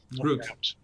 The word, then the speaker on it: route: way it's called rout rout root well it's it's two things right it's um rout rout is the route is the the American pronunciation yeah well I I